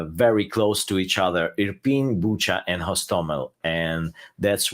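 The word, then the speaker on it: Irpin: on a residential area in european i'm probably not pronouncing that right where's that city at uh sergey yeah european you you pronounce it right it's suburbs of kiev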